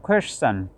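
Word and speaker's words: question: টিআইওএন থাকলে শন উচ্চারণ হবে না, টিআইওএন চন উচ্চারণ হবে, চন বা চান। এটা শোয়া সাউন্ড। ইএসের পরে টিআইওএন আসলে, টিআইওএন যদি ইএসের পরে আসে, শেষে যদি থাকে, তখন তার উচ্চারণ চান হবে।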